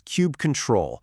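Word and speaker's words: kubectl: They've officially stated that the correct way to say it is cube control because you are using the tool to control the cube.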